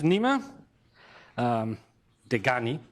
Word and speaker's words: Nima Dehghani: So it is today my pleasure to introduce Nima Dehghani.